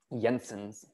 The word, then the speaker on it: Jensen: which is Jensen's inequality, that is pronounced with a y, Jensen's inequality.